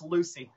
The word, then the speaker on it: Lewsey: It's Lewsey. Lewsey. Oh, I was practicing that. Where's my assistant? Oh, it's all good, brother. I'm going to blame my assistant because I said Lewsey. Is Lewsey it? Lewsey. It's pronounced like same as L-U-C-Y. I'm just sharing.